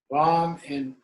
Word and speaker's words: Vam: Vam in Sanskrit and Bam in Tibetan.